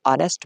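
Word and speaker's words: honest: clear करता चलू कि ऑनेस्ट में एच साइलेंट होता है ओ साउंड प्रोड्यूस होता है इसलिए इसके साथ आर्टिकल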